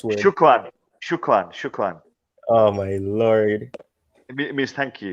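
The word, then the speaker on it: شكرًا: What's the pronunciation of that S word? Shukran.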